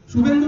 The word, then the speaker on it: শুভেন্দু: শুভেন্দু বাবুর স্পেলিংটা কি জানি জানেন নামের? পরের দুটো তো ভেন্দু থাকে, ভয়কার নয় হর্ষ, প্রথম সুটা লেখেন SHOE, উচ্চারণ করুন শুভেন্দু, বুঝতে পেরেছেন?